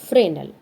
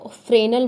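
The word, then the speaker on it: Fresnel: अब है फ्रेनल pronounced as फ्रेनल मतलब इसको फ्रेनल बोलते हैं।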